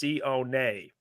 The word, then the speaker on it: Sione: His name is pronounced Sione.